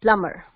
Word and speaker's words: plumber: And it's not plumber, it's plumber.